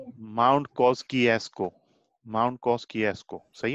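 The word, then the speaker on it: Kościuszko: Pronunciation मैंने एक दोस्त से पता किया, आपको सुनाता हूँ उनकी आवाज में। माउंट कॉस्किएस्को। सही है।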